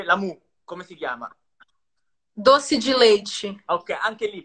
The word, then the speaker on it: doce: Sì, dossi, anche la Doce. E a volte può essere I alla fine della parola. Non è Doce. dossi.